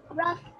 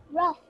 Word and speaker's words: rough: Rough. All right, Zaina, read this word, please. Rough. Excellent, rough. So the sound of GH here is? F. F, yes.